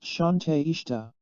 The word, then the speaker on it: Shante Ishta: Shante Ishta, pronounced Shante Ishta.